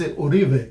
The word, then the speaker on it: Uribe: At the beginning of the program, I asked you how you pronounce your name, Yoribe or Uribe. It doesn't matter how people, because I know in Spanish it's Uribe. Uribe, yeah.